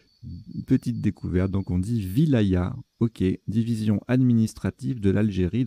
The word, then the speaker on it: wilaya: deux ailes à ça ça se prononce wilaya main voyez je le découvre petite découverte donc on dit wilaya ok division administrative de